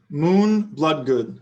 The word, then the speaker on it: Moon Bloodgood: uh her name is moon bloodgood so she has three double o's and they're all pronounced differently yeah and so and